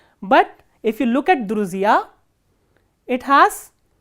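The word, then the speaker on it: друзья: It is druzia, druzia. So, here stress is on the ending ya.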